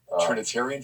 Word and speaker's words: Trinitarian: My uncle was had baptized me in Trinitine. I'm saying it wrong. Trinitarian formula? Yes, that's right.